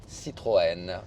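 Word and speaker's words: Citroën: How do you pronounce it? Citroen Reno Bour.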